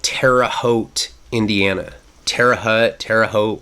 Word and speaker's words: Terre Haute: Indiana and we go to a prison called Terre Haute Indiana Terre hut Terre Haute whatever you want to say some people call it Terre Haute some people call it Terre Hut just like some people called Lompoc Lompoc and